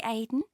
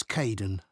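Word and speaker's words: Kaeden: Hi Aiden. Uh, it's Kaden.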